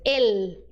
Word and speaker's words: el: é é o burro já vi gente falando é o burro mas não se diz el el burro el faz bastante força com a língua tá letra Y vamos